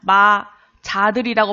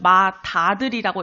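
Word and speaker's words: 맏아들: 마자들이라고 발음하지 않고 마다들이라고 이렇게 연음이 돼서 발음이 돼요.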